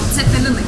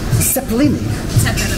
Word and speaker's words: cepelinai: In Lithuanian, Cepelinai. Cepelinai. Zepa, like a Z.